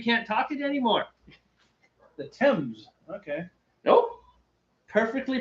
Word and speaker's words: Thames: It's Thames. Tim's? Thames. Like Tim's, but with an E. Thames. That is definitely T-E-M-S. Thames.